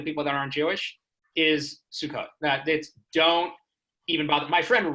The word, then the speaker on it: Sukkot: Suck it, Sukkot, Russell. That's not how you say it.